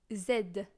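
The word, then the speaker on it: zède: were so it's only zed z is Zed it's like uh in uh League of Legends the character name is head it's exactly that so you don't need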